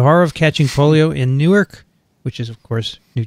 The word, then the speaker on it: Newark: corrected it's fine no it's spelled the same way it's just pronounced differently um there you go